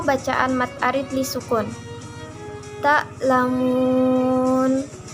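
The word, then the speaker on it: تعلمون: Ta'lamun. Tulisan aslinya ta'lamuna. Karena wakaf, cara membacanya adalah ta'lamun.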